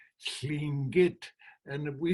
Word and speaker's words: Tlingit: Okay, Tlingit. The air comes out of here, sla, sla. The tongue is up against the front. Our language is a little difficult this way. Tlingit.